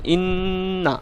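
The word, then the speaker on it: إنّا: এরকম বলে চলে আসা যাবে না, একটু থেমে উচ্চারণ করতে হবে। যেমন ইন্না এরকম, আন্না, আম্মা এরকম, আম্মা, সুম্মা এরকমভাবে আপনাকে উচ্চারণ করতে হবে।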